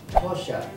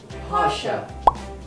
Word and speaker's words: Porsche: là Linh sẽ đọc cái hãng này là Porsche đúng không? Nhưng không, riêng hãng này là Linh biết cách đọc đúng, đó là Porsche.